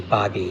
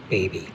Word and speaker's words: Baby: jacqu not Jimmy and I think if I recall the pronunciation is actually Bobby not baby a wealthy landowner of